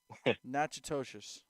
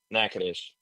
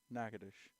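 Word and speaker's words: Natchitoches: You know how to pronounce that? I'm gonna take a shot at it. Nachtoshious. Nacadesh. No way. Yep. Mhm. Nackadesh.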